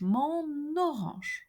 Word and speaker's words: mon orange: So the sound of the last letter of the word mon, N, is transferred to the second word orange, mon orange.